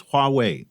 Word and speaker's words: Huawei: just for the record the way you pronounce it is Huawei you know two characters wah and wait there we go Adam